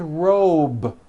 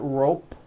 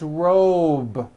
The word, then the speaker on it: robe: a voiced be ending same thing with robe also has a voice to be ending it's not rope with an unvoiced P it's robe okay let's go over